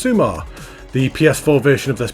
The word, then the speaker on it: Summa: still always summer at the all-new sumar beach pronounced sumar the ps4 version of